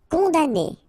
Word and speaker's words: condamné: Condamné. Okay, so it's really strange because this M here, well, technically it's not pronounced.